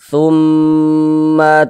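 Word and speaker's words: ثُمَّ: Cara membacanya itu dighunahkan. Jadi didengungkan. Jadi suaranya itu kita tahan, kita panjangkan sejenak. Tsumma tuwaffa tum di bagian tsumnya itu kita kita tahan kita panjangkan sejenak kita dengungkan tumma tuwaffa.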